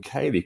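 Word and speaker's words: ceilidh: at yeah so yeah there's basically a lot of silent letters in in Galax so uh so Kaylee as uh is actually spelled uh so c-e-i-l-i-d-h um uh so um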